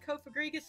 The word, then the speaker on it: Cofagrigus: Yeah, everyone pronounced it Cofagrigus. It's just, you know, it's a long name, and I try to pronounce it each one as like each syllable, and then you said Cofagrigus, and I'm like, of course. Well, because I don't like how everyone puts the emphasis on like the fag part of that.